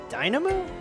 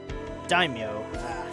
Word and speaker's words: Daimyo: to make Kondo a Dynamo? Fuck. Daimyo. Damn. Okay, my Japanese pronunciation is very off. I want to say Dynamo.